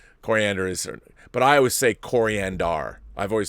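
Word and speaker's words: Koriand'r: his name is pronounced coriander yes yes it is yes like the spice it's not an accident that her skin is the same color as a spice yes yes it's true it is coriander I knew that but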